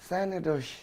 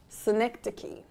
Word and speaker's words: synecdoche: Sanadosh. Joss. Synecdoche.